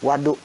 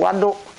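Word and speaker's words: وَضوء: Bacanya cuma dikit doang, antara waw sama wu. Wa sama wu. Satu wudhu, satu waduk.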